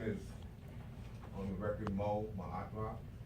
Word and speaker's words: Maatra: My name is, on the record, Mo Maatra. It's spelled M-O-E-M-A-A-T, Maatra, dash R-A.